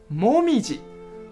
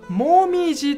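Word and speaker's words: 紅葉: モミジ，モミジと読みます。一定注意，モミジと読みます。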